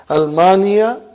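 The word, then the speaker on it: ألمانيا: See that hamza? That is hamzatul qata. Huh? It is a part of the noun. Uh-huh. Almania.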